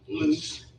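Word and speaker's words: Luce: that the first time you heard his name loose I think it's spelled l-u-c-e and he basically did what Stevie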